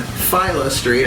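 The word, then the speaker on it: Phila Street: at the magic moon on Fila Street I just learned that's the right way to say f Street in Saratoga Springs you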